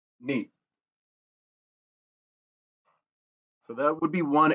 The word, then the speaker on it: niet: The pronunciation, you want to get the N as if you were pronouncing meat, but not as a heavy double E sound in the middle. It's not a prolonged E, it's neat.